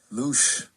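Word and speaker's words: loosh: A louch farm. It's a new one on me. Yeah, it's spelled L O O S H. Gotcha. Luch, my apologies for the mispronunciation.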